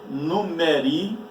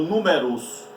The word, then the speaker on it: numeri: E no latim, o nome números, este termo, ele é pronunciado numeri ou numerus.